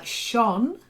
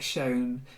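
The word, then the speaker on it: shone: l in prowess uh Sean it's not like shown it's the past tense of to shine shine Sean then um bow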